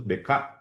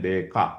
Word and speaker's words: Descartes: Jadi, Descartes itu DK. Kalau dalam kalau ditulisnya Descartes ya, kalau dibacanya DK gitu ya.